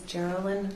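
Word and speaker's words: Jerrilyn: name for the record yes my name is geryn it's spelled j e r r i l y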